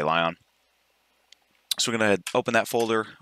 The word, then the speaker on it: l10n: pull the script from I pronounce this lie on I think it's l10n I just say lie on we're gonna open that